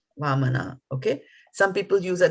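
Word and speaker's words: वामन: Some people will translate it like this, which means that this is a heavy A and this is just a soft A. So now when you look at it, you'll say Vamana, Vamana, okay?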